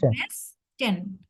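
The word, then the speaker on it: Westen: তো হুম অবশ্যই বলবো ওয়েস্ট মানে হচ্ছে ডেয়ার ভেস্টেন কি বলবো ভাইয়া আমার সাথে বলেন তো আপনি যে প্রশ্ন করেছেন ডেয়ার ওয়েস্টার্ন ভেস্টেন বলেন তো আবার আমার সাথে বলেন ভেস্টেন ভেস্টেন ভেস্টেন ভ এর মত করে একটা ধাক্কা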